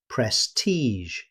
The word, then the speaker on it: prestige: Instead, native speakers say prestige, finishing with the same sound you hear in measure.